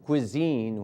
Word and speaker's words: cuisine: The classic French haute cuisine, pronounced haute like grain you give to horses, and cuisine, which rhymes with Holstein.